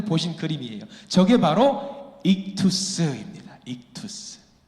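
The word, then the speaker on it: ἸΧΘΥΣ: 저 글씨만 따로 따서 뭐라고 읽냐면 익투스라고 읽어요.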